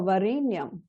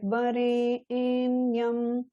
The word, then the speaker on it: Varenyam: So for Varenyam, Varenyam. So there's two parts to the syllable that has the two vertical lines on it. The sound Re is split into Re and A. Re in Yam. Bhargo Devasya Dhimahi Dhiyo Yo Naf Prachodayat. Notice the Ya At. So just like Vare in Yam, Vare in Yam.